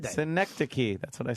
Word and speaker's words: Synecdoche: Someone is saying it's pronounced synecdote. Synecdoche.